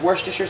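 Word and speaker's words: Worcestershire: to pronounce this word I've always pronounced it worse just your sauce and that's I'm going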